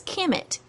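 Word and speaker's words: Kmt: they lived to them it was Kim it which is spelled K M T with no vowels while the Egyptians had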